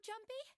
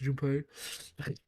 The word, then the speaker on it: Junpei: Is that you, Jumpy? Actually, it's pronounced Junpei.